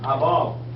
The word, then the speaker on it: above: Above. Acento en la A. Above. Above. Sin pronunciar la E.